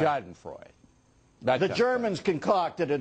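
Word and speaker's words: Schadenfreude: how do you say that German it's called shoden Freud Shaden Freud the Germans concocted it it's one's vague pleasure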